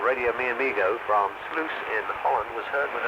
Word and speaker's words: Sluis: Radio Telex reports that a new station called Radio Mi Amigo from Sluis in Holland was heard with another test transmission on 6.296.